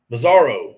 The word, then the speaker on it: Bizarro: LOS, say the word bizarre, then add an O. Bizarro.